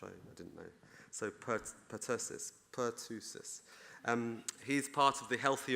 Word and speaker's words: Pertussis: it says Pertussis, is that right, the right pronounce? - Whooping cough. - Which is whooping cough, which I didn't know. So Pertussis, Per-tu-sis.